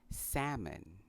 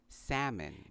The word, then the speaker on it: salmon: Like cupboard, one of the letters in salmon is also silent, and that is the letter L. So it is pronounced salmon. Again, this word is pronounced salmon.